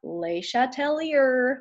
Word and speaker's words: Le Chatelier: so this is number 37 and 38 now Letelier was a french scientist and it makes me cringe whenever I hear people pronounce it wrong my french ancestors get deeply offended that Leisha Tellier okay da da but he came up with